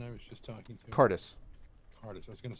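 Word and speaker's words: Kardis: Like TARDIS, but with a car. Okay, or Right. Curtis. It's K-A-R, but otherwise, yes. Okay. Yes. Right, so Cardis.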